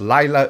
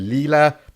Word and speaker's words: Lila: you this is live I pronounced Lyla earlier which is actually Lila chief so that was